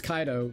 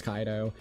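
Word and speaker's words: Kaito: His name is Kaido. The way that you do pronounce it is Kaido.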